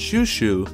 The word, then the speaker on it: Chouchou: One example I vividly remember was during the Orange Town arc when the dog, I think his name is pronounced Shushu, got his shop completely destroyed.